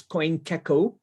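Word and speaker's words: CoinGecko: called um this is coin taco you can just you can pronounce it differently but uh it's coin kecko what actually this site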